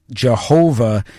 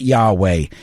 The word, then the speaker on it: Jehovah: They've got a tremendous article there uh that goes into the history and the theology behind uh why Jehovah is the correct pronunciation and not Yahweh.